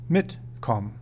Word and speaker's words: mitkommen: It is important to know that when pronouncing separable prefix verbs, the prefix will be stressed, mitkommen.